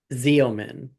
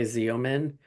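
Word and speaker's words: Xeomin: Okay, so it's spelled not how it sounds. It's spelled X E O M I N.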